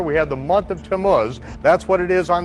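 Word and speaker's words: Tammuz: Biblical Hebrew calendar we have the month of tamus that's what it is on the Jewish calendar does anyone know anything about Tomas we read about to mus in Ezekiel 8.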